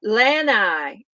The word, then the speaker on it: Lanai: how are you doing uh Lanai okay okay that's how you say it yes because when we were in Hawaii and my sister-in-law said the word and I thought I don't even know what that is hahaha long eye yes okay well you